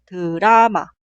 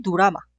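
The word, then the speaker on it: 드라마: y se pronuncia Brenda la palabra drama se escribe así y se pronuncia dorama dorama dorama no sé pronuncia u tampoco se pronuncia o por ejemplo drama este drama no es drama ni durama practicamos un poco más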